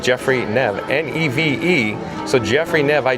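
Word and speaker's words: Neve: Jeffrey Nev, I do believe that's how you say it, Jeffrey Nev, N-E-V-E.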